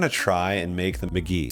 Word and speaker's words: Mk.gee: McGee or McGee. I'm pretty sure you can pronounce it either way. I was wrong. It's pronounced McGee.